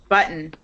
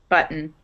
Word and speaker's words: button: in class no um button without a British accent button okay that's how I pronounce it the T disappears button um I'm not sure